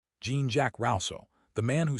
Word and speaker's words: Rousseau: Which is exactly why Jean-Jacques Rousseau, pronounced Rousseau, is one of the hardest thinkers in this whole series to summarize fairly.